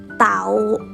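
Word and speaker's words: เต่า: Turtle is เ ต ่ า เ ต ่ า Again.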